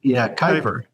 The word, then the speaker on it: Kuiper: You're working with Keeper now, or Kuiper. I never knew how to pronounce it. Kuiper.